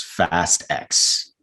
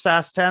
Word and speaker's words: Fast X: for fast and furious 10 and it is fast x boring which will probably be pronounced faster faster you think it'll be pronounced fast 10 or you think a lot of people will